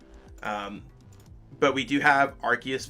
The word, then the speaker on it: Arceus: it's arceus right um i used to always pronounce it as arceus but i think it's arceus from what i've seen